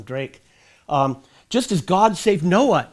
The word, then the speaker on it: Drake: Actually, I had pronounced it Draxa, but his descendants took the name Drake, so I'll just call him Drake.